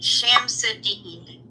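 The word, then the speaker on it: Shamsud-Din: metal properties and he he pronounces his name sham sadine sham sedine good evening I'm sham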